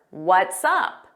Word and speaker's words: what's up: What's up, What's up So notice it sounds like one word and you hear that S on what's and Sup we put it in front of up.